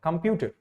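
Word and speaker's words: computer: Pronunciation क्या होता है, कंप्यूटर। इसमें प्यू जो है ये आपका क्या है, थोड़ा सा ज्यादा सिलेबल मतलब स्ट्रेस्ड है।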